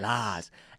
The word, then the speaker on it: Lars: It's Swedish and Danish in its pronunciation. Yes. Lars.